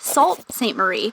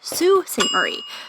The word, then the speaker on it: Sault Ste. Marie: Before we go any further, we had no idea that we were pronouncing the name of the city incorrectly. And last week, a few of our Canadian friends informed us that it's not Sault Ste. Marie, but Sault Ste.